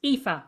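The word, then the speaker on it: Aoife: I always tell people read it backwards read it as if it's EFA so it's pronounced epha O'Brien it's a very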